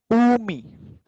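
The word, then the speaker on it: 海: लेकिन अब next word, okay, ये है ऊमी। अब इस वर्ड में ऊ के पहले कोई अल्फाबेट ही नहीं है, तो इसका प्रॉपर प्रोनाउंसिएशन ऊ से स्टार्ट होगा, ऊ मी।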